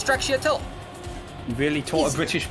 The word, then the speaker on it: stracciatella: this, you have to look at every little syllable and go Stracciatella, right? That's how I just went about it. And so put it together, you say it fast, it goes Stracciatella.